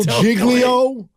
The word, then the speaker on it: Giglio: good jiggly giggly giggly yeah soft G Jo Jo Jo jiggo there you go that dude and I'm